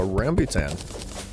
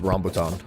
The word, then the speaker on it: rambutan: Crimson um oh a ramby tan wow I know I like butchered that pronunciation I think it's rambutan not rambutan dude I love the